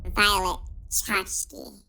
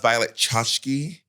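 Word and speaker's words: Violet Chachki: She goes, "It's pronounced Violet Chashki. You had one job."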